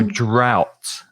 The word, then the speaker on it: drought: That's called a drought, which is sequía, I think, in Spanish, a drought. The pronunciation's quite difficult. It's ow, the same sound as in now or cow or wow. So drought.